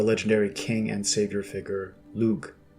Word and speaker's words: Lugh: Cuchulainn's father, the legendary king and savior figure Lugh, pronounced Lu, who, according to Wikipedia, is associated with rightful kingship.